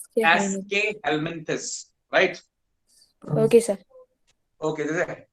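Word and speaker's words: Aschelminthes: एस्केहेल्मिन्थस, it's pronounced as एस्केहेल्मिन्थस, right.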